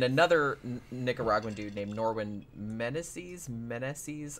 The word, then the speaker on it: Meneses: I'm not really sure how you pronounce his last name. Menzies? No, it's M-E-N-E-S-E-S. Meneses. Meneses, probably. Meneses, I think is. Yeah, now that I say it like that, I'm like, yeah, I think that's right.